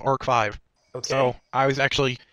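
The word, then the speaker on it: ARC-V: Apparently, Arc V is actually pronounced Arc 5.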